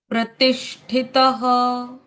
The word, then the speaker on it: प्रतिष्ठित: प्रतिष्ठित प्रति प्रति के बाद आदेश का उच्चारण प्रतिष् और फिर ठित तितः प्रतिष्ठित प्रतिष्ठित प्रतिष्ठितः प्रतिष्ठित प्रतिष्ठित गॉट